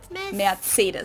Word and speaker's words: Mercedes: in Germany um so most Americans call this Mercedes yeah yeah in German we pronounced Mercedes Mercedes versus Mercedes matus so it's really pretty different and the full name of